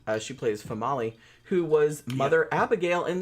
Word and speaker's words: Female: Yeah, but it's pronounced Famali.